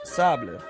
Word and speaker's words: table: word so here's the example szabla table is pronounced Sabich by some people but the correct way is table so and the same thing for saber like